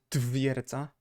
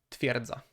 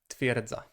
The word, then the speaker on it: twierdza: So it is not twierdza, twierdza. It's really even hard to try to pronounce it properly, or properly as it may seem. But instead it's pronounced twierdza, twierdza, twierdza.